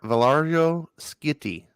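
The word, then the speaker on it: Valerio Schiti: Look, they have a pronunciation key. Valerio? It's Valario Skitty.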